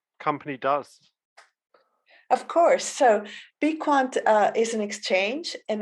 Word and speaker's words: Bequant: wonderful to be here and yes it's it's pronounced be quant although we've had loads of different pronunciations depending on the region of the world that people are from but yes i would say be quant is the correct one okay great and um